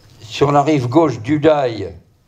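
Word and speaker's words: Day: la rive gauche du dail ça sécrit des a y et ça se prononce da les légionnaires racontent leurs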